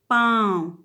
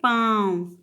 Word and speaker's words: पाँव: पाँव, मुख और नाक दोनों से इसका उच्चारण हुआ है पाँव।